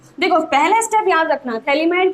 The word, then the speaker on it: phthalimide: Okay, तो ये हमने एक सोडियम सॉल्ट बना दिया है थैलेमाइड का, ठीक, तो ये है हमारा थैलेमाइड, PH TH A, यहाँ पर PH आपका साइलेंट होता है, ठीक है।